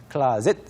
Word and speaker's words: closet: 뭐 close처럼 쓰여져 있지만 사실 발음이 완전 다르죠. 클라로 시작이 되고요. closet, 벽장을 말합니다.